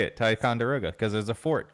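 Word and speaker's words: Ticonderoga: I literally have no idea how to pronounce the town. Uh, Ernest and Ticeroga. Tyicoga. Taekwond. What? Taekwondo. Ticeroga. It's a Tyonderoga, New York.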